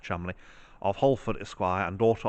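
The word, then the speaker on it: Cholmondeley: a relict of thomas chumley as it is pronounced chumley of holford esquire and daughter of edward holland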